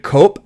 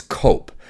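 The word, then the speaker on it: Koepp: so directed by David cop I hope I'm pronouncing that right I think I heard somebody in an interview say that it's cop KO OE PP I've seen him do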